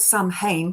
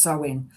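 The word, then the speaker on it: Samhain: It is um it's spelled Sam Hayne but it's pronounced sewing.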